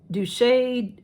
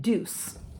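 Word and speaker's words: Douce: the deuce nobody knows how to say d-o-u-c-c-e douche uh deuce a lot of people have um douche people um so this is the punk volumizer mascara i looked it up and deuce is how you pronounce it and this is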